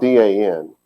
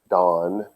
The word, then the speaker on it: Dan: It's spelled D-A-N, pronounced dawn. It's people in America call it Dan, the tribe of Dan.